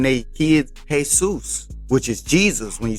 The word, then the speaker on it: Jesús: Then you see Mexicans name their kids Jesus, which is Jesus when you spell it out in Spanish.